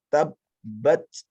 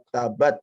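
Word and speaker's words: تَبَّتْ: Ya, yang pertama, jika bertemu dengan tasdid, setiap kali ada huruf bertemu dengan tasdid, maka di sini dikeraskan tabbat, tabbat, bukan tabat, tapi tabbat gitu.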